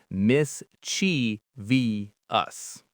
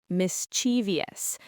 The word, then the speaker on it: mischievous: The incredibly common incorrect pronunciation is mis-CHEE-vee-ous. Mischievous. This incorrect version has 4 syllables, and it puts the stress on the second syllable, chi.